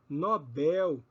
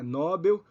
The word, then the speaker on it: Nobel: sílaba tônica vai nos livrar de problemas Quando pronunciarmos Tais palavras então vejam Condor Mister novel Nobel ureter ruim não é cdor não é Mister não é novel não é nóbel não é urter não é ruim é Condor